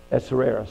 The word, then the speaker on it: Ahasuerus: She had Ahasuerus. Did I say it right? Say it again. Ahasuerus, thank you.